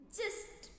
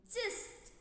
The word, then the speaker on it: gist: the day together okay so how do you pronounce this just just okay which means the real point of an